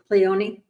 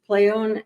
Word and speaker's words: Pleione: You don't pronounce the E. It was Pleione, I believe. Pleione?